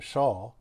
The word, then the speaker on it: Shah: I, of course, want to promote my friend Nadia Shah. Some people pronounce her name Nadia Shaw. I don't think she cares too much either way.